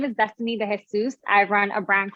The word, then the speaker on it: DeJesus: we have miss destiny jesus i'm sorry if i'm mispronouncing your name vegan food activists from the